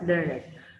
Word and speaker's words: learned: It is not learned. It is actually the adjective here, which is learned, which is pronounced as learned.